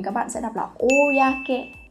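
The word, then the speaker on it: 公: Nhớ là không đọc là cô đâu nhá, không phải giống như trong cái trường hợp là kokyo đâu, mà đọc là oyake này.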